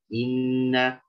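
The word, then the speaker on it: إِنَّ: Inna. Nah, kadang sering sekali kalau kasroh di awal kalimat, ya contohnya kata inna, idza, ya itu kadang rentan imalah kalau kita tidak sempurnakan harokat. Jadi bacanya inna balaunahu. Inna.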